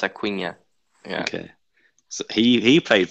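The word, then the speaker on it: Acuña: Acuna, because of the end with the symbol on it, it's Acuna.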